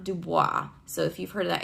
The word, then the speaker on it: Du Bois: thinkers that are very famous one is w.e.b du bois it is not dubois so if you've heard that it's mispronouncing it and i know that because he's